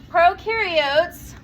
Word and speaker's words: prokaryotes: Prokaryotes, pro rhymes with no.